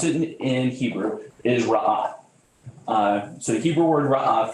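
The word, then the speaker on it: רעה: So the Old Testament word, if you were to pronounce it in Hebrew, is ra'ah.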